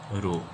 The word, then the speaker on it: rho: This is a Greek symbol, we pronounce it as rho.